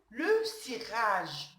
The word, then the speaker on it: cirage: Aussi, on a un autre mot comme exemple, le cirage. Le cirage. Comme vous remarquez ici, le C, il est devant une voyelle I. Donc, il se prononce si.